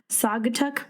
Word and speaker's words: Saugatuck: This coffee comes from Uncommon Coffee Roasters, which is a queer-owned coffee roaster in, us in names, I swear to goodness, Saugatuck, Michigan.